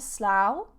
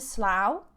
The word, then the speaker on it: Slough: ever been to Slough now this spelling of SL Oh ugh can be pronounced and I think three or four different ways but it depends if it's a noun a verb depends on the context okay today I've just